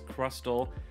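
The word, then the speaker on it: Crustle: also says crustal so the t is pronounced in that in that uh pokemon name and so yeah there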